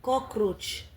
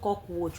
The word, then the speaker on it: cockroach: He called this way. Not cockwatch. Cockwatch. He's having problem. I don't know. His tongue is cannot pronounce something. You always put R when saying those things.